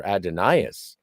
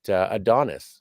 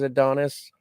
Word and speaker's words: Adonis: like highfalutin and be like, oh no, it's pronounced Who Mourns for Adonias.